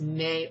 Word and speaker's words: me: She got the May, the M-E, and it's pronounced May articles, and dressed herself in them.